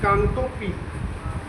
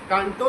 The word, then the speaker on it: कांगटो: की सर्वोच्च नहीं बता उसको बोलते हैं कांगटोपी कांगटो काो हां काटो नहीं कांगटो काटो तो जापान में